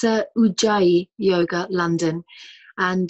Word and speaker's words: Ujjayi: How are we pronouncing this? It's Ujjayi Yoga, London. And Ujjayi is Sanskrit for victorious.